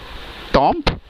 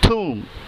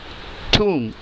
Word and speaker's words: tomb: टॉम्ब? नो, the correct pronunciation is tomb. tomb. tomb.